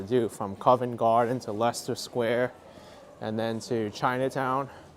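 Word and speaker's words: Leicester: heads where's Lester Square because it's Lester Square for some reason they decide to use all the letters but not use any of them and just pronounce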